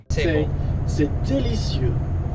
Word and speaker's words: c'est délicieux: C'est délicieux. C'est C'est délicieux. C'est Let's break it down by syllables.